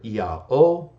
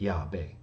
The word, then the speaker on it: Yahweh: Leviticus B to Theodoret, where it is represented that the Jews pronounce the divine name either Yah-O or Yah. Even Theodoret doesn't say the Jews pronounce the divine name Yahweh. He says the Samaritans pronounced it Yahweh.